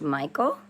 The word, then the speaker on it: Michele: So Michele is pronounced Michael in Italy.